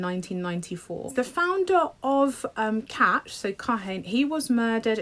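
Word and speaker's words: Kach: party I want to say in Israel called catch catch is spelled k a c h the founder of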